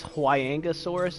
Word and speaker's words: Huayangosaurus: I think technically it's Huayangosaurus is how you pronounce it.